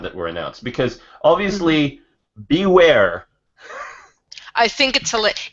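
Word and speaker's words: Bewear: were announced because obviously be where I think it till it it's spelt be e w/ei are like bear it is hilarious I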